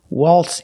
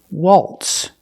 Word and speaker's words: waltz: You see the letter Z, but we don't pronounce the zebra sound, z.